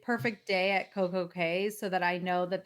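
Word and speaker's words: CocoCay: I have to say perfect day at Coco K so that I know that that's how they pronounce it. But then I and I know that the Bahamians pronounce it key.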